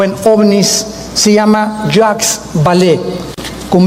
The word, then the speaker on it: Vallée: El más grande experto en ufología o en ovnis se llama Jacques Vallée, con B de Víctor y doble L. Vallée se escribe, Jacques Vallée, Vallée en francés.